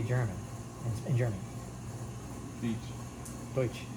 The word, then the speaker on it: Deutsch: Deutsch. Deutsch.